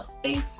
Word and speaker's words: space: Whenever you see an E, an I, or a Y after your C, it's a soft C sound, which sounds like a S. Space. It is space.